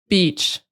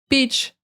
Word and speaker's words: beach: And a lot of you, most of you guys have this E sound in your language. It's not even a new sound. You just got to do it longer. You just might not be doing it as long in your language, but you gotta do it longer. Beach.